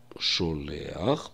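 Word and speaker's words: שולח: В слове «шолеах» – последняя буква «хэт». И чтобы правило о букве «хэт» не нарушалось, мы произносим гласные «о-э», «шо-ле», и дальше произносим «ах», чтобы слово заканчивалось на «ах».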